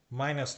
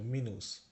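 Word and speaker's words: Minus: ইংলিশে ড্যাশ বলি সেটাকে এরা মিনুস বলে মাইনাস না কিন্তু মিনুস ইউ এর উচ্চারণ বা উ এর উচ্চারণ যার মধ্যে সবসময় উই হবে মিনুস আর উন্নস্ট এটা মানে হচ্ছে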